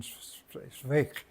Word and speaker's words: Zweig: el libro de Stefan Zweig. También lo pronuncian Zweig, pero creo que es Zweig.